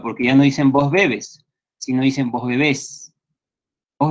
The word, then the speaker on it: bebes: Y ya no va la acentuación en la última sílaba, sino en la primera. Tú bebes, bebes.